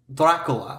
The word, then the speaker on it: Dracula: sister what's the tea Dracula which is how you say it in Romanian m and so because